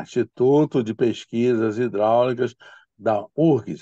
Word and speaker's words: UFRGS: Eu morei lá em Porto Alegre, fui, né, professor pesquisador da IPH, Instituto de Pesquisas Hidráulicas da URGS. Eles falam URGS, não pronunciam o F.